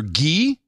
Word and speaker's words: Guy: the title of Sir Guy, which is pronounced as in the Indian clarified butter French Guy, G-U-Y, Sir Guy, but it'll be G-E-E.